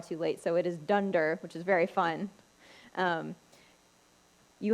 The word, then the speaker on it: dunder: under method is and I didn't hear it pronounced out loud until far too late so it is dunder which is very fun you have a method